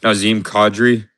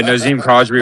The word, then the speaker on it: Nazem Kadri: Um I tell me if I'm pronouncing his name wrong, but he's on the Avalanche. Is it a Nazem Kadri? Sure. Yeah, yeah, Nazem Kadri over half a point on minus 110.